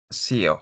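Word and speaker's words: Xeo: No sé cómo se pronuncia. Es Cheo. CEO. Es X e O. Sío, sí.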